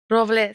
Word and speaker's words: Robles: Robles. Like I'm a Spaniard. Robles. Almost. They get to roll your R's?